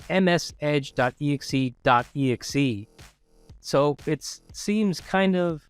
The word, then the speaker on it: msedge.exe.exe: Now, that is not a mispronunciation. It's not msedge.exe, which is obviously the process for the Microsoft Edge browser. It's msedge.exe.exe.